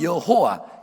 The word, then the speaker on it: 여호와: 하나님 예 야외에 또는 여호와 이것은 히브리 식 하나님의 이름인 거예요 야외 또는 여호와 둘다 틀린건 아닌데 발음상 야외 가도 맞지 않을까 그래서 언제 사람들이 여호와를